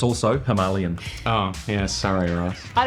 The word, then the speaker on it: Himalayan: And it's also Himalayan. Oh, yeah, sorry, Ross. I don't even care how you say it. It's Himalayan.